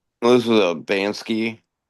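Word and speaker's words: Banksy: This is a Bansky is how you say his name.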